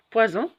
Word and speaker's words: poison: Poison, on ne va pas dire poisson parce que on a la lettre Z est entre 2 voyelles. On va dire poison et non pas poisson.